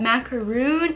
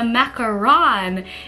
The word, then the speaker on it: macaron: someone adopted the mini macaron turtle and side note I was told that macaroon is actually like that coconut pastry insert a picture here and a macaron is the French pastry which I just made